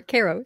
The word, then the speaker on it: Karo: contributed to us including including youtube i think carl you put in or cairo sorry i keep mispronouncing your name um so cairo you